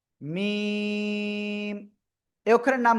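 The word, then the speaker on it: ميم: এই অক্ষরের নাম কি মিম এই অক্ষরের নাম কি মিম এই যে দুই ঠোট দুই ঠোটের শুকন জায়গা থেকে উচ্চারণ করতে হবে মিম মিম ওকে আশা করি ইনশাল্লাহ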